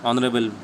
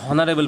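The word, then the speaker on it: honourable: তারপর দেখো অ্যান অনারেবল ম্যান, তাহলে অনারেবল কী হচ্ছে, উচ্চারণ হচ্ছে অনারেবল, তাহলে দেখো তোমরা এইভাবে উচ্চারণ করতে হবে না, অনারেবল, ঠিক আছে। এখানে হনারেবল পড়বে না, হনেস্ট ম্যান, এখানে দেখো অনেকে কি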